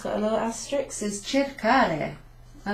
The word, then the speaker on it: cercare: Cercare. So, ch sound, let's see, an E is a ch, and then we've got a hard C there, ca.